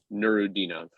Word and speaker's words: Nuradinov: Now the announcer who's Uzbek pronounces it Nurudinov. Yeah. With an emphasis on like the D or whatever.